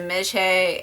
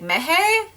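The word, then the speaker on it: মেঝে: Bangla, the J is, you pronounce the J, you don't pronounce it with a H, and I'm like, the floor is a Mejhe, and I'm always like, Mehe? Meha?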